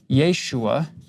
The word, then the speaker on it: Yeshua: The Aramaic name, you can put either a Y or a J because they're both pronounced with the Y sound. The long form, Yehoshua, or the short form, Yeshua, that's what Jesus would be known as. You wouldn't go back in